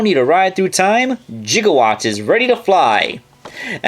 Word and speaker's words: gigawatt: of the crossover transformer gigawatt and yes you are supposed to pronounce that with a soft g and if you do not then you are a heathen now just like his